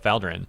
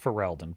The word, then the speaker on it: Ferelden: because of her affection for the hero of Faldrin, and her friends like Leliana. It's pronounced Ferelden, but who is Kieran?